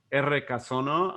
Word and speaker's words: Errekasono: And that is R Casono, and I'll spell that because it's in Basque, and it means creek sounds, which arroyo, it means creek.